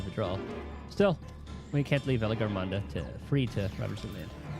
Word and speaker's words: Valigarmanda: Oh, so he's saying with hard G. So is it Valigarmanda or Valigarmanda? I guess either or.